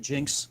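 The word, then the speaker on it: GN-X: time nice we could that's a G and X is that what you're calling it jinx yeah that's how you say it okay there's a lot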